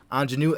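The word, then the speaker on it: Aunjanue: woman's name and i do very much apologize pronunciation ingenue ls there we go just google it kids anjanu ellis for king richard this is a tough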